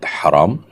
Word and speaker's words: হারাম: বড় হা ছোট হার। উত্তর হলো না। এই বর্ণের মধ্যে কোন পার্থক্য নেই। দুইটাই বড় হা। অর্থাৎ হারাম। কন্ঠনা থেকে যেটিকে আমরা উচ্চারণ করি সেই হাই একটাই হা বর্ণ একটাই কিন্তু অর্থ দুইটা এখন